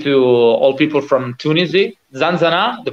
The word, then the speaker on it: ZanZanA: ZanZanA, the pronunciation is good?